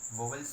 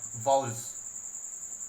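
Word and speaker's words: vowels: ये वॉल्स, अगर हम इसका प्रोनाउंसिएशन करने की बात करें तो ये इसका प्रोनाउंसिएशन होगा वॉल्स। बहुत से बच्चे इसको गलत पढ़ देते हैं, बोलते हैं वॉवेल्स। इसका जो प्रोनाउंसिएशन होता है वो होता है वॉल्स, और इसको हम हिंदी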